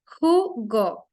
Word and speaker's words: jugo: The sound here of the letter J is very interesting because in Spanish, that pronunciation is almost like the H in Spanish. So it's jugo.